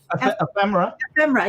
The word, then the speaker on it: ephemera: Ephemera? Ephemera. Yeah, that's it. Yeah. Ephemera. Ephemera. That sounds like a condition. It sounds really good too. People want that. Well, trust me, I didn't know what ephemera was until I got on YouTube last year